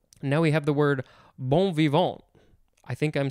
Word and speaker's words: bon vivant: Now we have the word bon vivant. I think I'm spelling or pronouncing that correctly. You could say bon vivant, bon vivant.